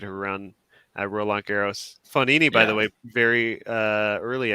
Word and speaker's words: Fognini: Joseph is asking, Stephen, can you pronounce Fabio Fognini for us? I think I said Fognini for the first couple of years of reporting, and everyone was roasting me for it, because no, it's Fognini.